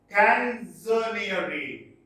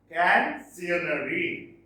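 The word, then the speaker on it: Canzoniere: Canzonieri. Canzonieri. Canzonieri. That is the pronunciation.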